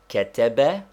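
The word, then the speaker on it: كتب: one under it nine is there any english word or name which will give us the pronunciation of ketebe yes take the word canada there is a slight stress upon the first syllable but not enough to make it a long vowel we do not say canada still less canada simply canada ten are other three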